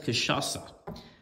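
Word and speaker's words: cachaça: do that I've got I just found out it's pronounced kashasa so there we go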